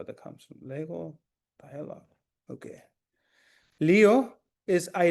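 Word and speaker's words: λέγω: You see here the the G has a little bit of the G will sometimes have different pronunciation. Here it has a stronger pronunciation because what follows it is a vowel. So it's Lego.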